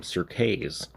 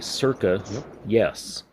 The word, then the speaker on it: CIRCAYES: ressing us here is circa yes most people pronounce his name sir kay's but it's actually circa yes and if you look up circa on wikipedia